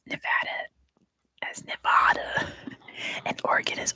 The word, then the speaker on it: Nevada: So if your regional accent says Nevada, I'm not gonna default you on that, but just know that in America it's pronounced Nevada.